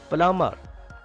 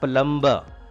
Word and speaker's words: plumber: Plumber. B is silent here. It is not plumber.